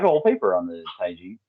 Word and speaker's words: taiji: it's really it's pronounced taiji taiji twin but most people say tai chi because they think that it means the energy the energy manipulation one